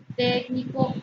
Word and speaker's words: técnico: Dice técnico. Última, penúltima, antepenúltima. Antepenúltima. Palabra que es esdrújula. Las esdrújulas siempre llevan tilde. Entonces, técnico lleva tilde en la E.